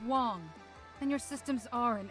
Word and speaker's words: Wang: Negative, Evelyn Wang. My navigation systems aren't operating as intended. It's pronounced Wong, and your systems are in error.